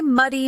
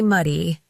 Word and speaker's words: muddy: This word is excellent for practicing the short U sound, which many learners find challenging. Say muddy, muddy, muddy and feel how your